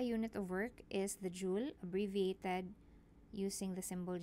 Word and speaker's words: joule: it's pronounced as J Joule and not as Joel so we will be